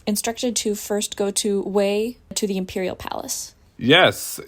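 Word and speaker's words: Hue: and yes as as you pronounced it correctly it is pronounced way don't say Hugh because that's what Terry did and Ian yelled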